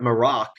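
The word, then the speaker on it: Marrok: pronounced um but so so The Inquisitor is pronounced Mar morac it's m a r r o k I think or o c k morac um I have so many like who could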